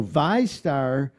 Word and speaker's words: VyStar: at the rates that we have okay so vistar um is pronounced v-y-s-t s-t-a-r vi star how did the